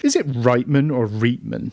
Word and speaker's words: Reitman: I've always said Reitman, but I could be wrong. Because there's the clothing chain in Canada is called Reitman's. But I've always thought it was Reitman was how you pronounce this.